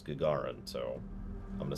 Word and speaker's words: Gagarin: excuse me station commander i've heard so many different ways to pronounce it but the way i i looked it up it was gagarin so i'm gonna say